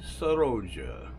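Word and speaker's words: Sorolla: one of my favorites Joaquin saroja or sorrows as the Spaniards would say is that it's not spelled like it sounds but Joaquin sahaja and he started painting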